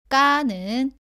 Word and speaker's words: 까: 모두 가와 발음이 비슷한데 까는 가보다는 세게 발음하고 공기가 나오지 않습니다.